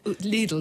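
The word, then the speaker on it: Lidl: i go shopping in needle needle is how you pronounce it illegal is how you pronounce it it's like a needle but with my waitrose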